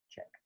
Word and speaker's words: Czech: speak which is a czech proverb check from the czech republic check pronounce check and it's a proverb